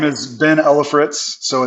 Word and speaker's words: Ellefritz: Yeah, so my name is Ben Ellefritz. So it's even though it's spelled E-L-L-E, it's Ellefritz. And so I serve as the executive pastor at the Crossing Church.